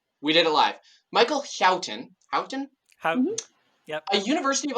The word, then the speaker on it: Houghton: Michael Houghton. Ooh. Houghton. I put a note in the episode notes, learn how to pronounce this before going live, and go figure, we did it live. Michael Houghton, Houghton.